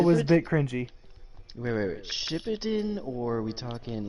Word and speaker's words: Shippuden: When the emphasis is supposed to be on the Puden. Shippuden. Alright, whatever. Okay, well, is it Shippuden or original Naruto?